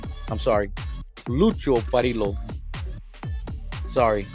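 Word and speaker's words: Lucio Parrillo: the number 29 with Lucio Pario. I'm sorry, Lucho Parilo. Sorry, the um Mexican wants me to say lucio pario, but it's lucho parilo, how he would pronounce it, I believe, in Italian.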